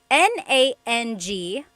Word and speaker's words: nang: Uh S on YouTube asked, "Is nang and nang the same thing?" Oh my gosh, I love this question. So, there are two types of nang in Tagalog. N a n g nang and then ng nang.